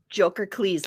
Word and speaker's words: Jokercles: Jokerles? Jokercles, like Hercules.